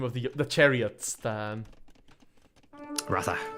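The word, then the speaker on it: Ratha: the the Chariots um Raa rraa exactly although apparently as well for another one of like true pronunciations apparently the a is silent in rraa you should say wrath but I that just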